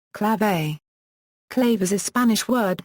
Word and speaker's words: clave: Etymology, Anglicized pronunciation, clave.